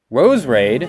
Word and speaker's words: Roserade: red rosary rose raid that's how it's pronounced up calling a Rosa